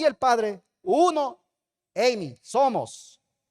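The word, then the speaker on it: εἰμί: ini o se o se lee Amy e i m i se pronuncia Amy y significa ser existir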